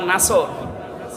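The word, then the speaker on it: نصر: নসর না নাসর? নুন সোয়াদ র। নাসরন শব্দের শাব্দিক অর্থ হচ্ছে সাহায্য, আর নুন সিন র নাসর মানে ঈগল পাখি। এই জন্য যারা এই সূরাটা পড়তে গিয়ে সোয়াদ না বলে সিন দিয়ে উচ্চারণ করেন, আপনার কিন্তু নামাজ হবে না।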